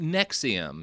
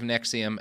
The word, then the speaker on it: NXIVM: NXIVM, so not the heartburn medication. Truly, but it's the same name.